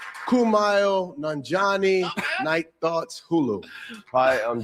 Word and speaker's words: Kumail Nanjiani: I'm Kumail Nanjiani. Kumail Nanjiani, Night Thoughts, Hulu.